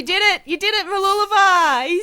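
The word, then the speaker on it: Mooloolaba: the location right going to Australia Sunshine Coast Mula is pretty special oh you did it you did it maliva he said it right he's been practicing for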